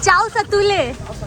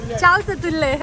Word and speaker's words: chow satule: जिसका pronunciation I did wrong, so they are laughing. Chow satule. Chow satule.